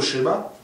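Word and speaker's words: Shema: Il ne faut pas lire schéma, il faut lire schéma avec un haïd. Il faut accentuer le haïd. Schéma. Schéma, ça veut dire écoute.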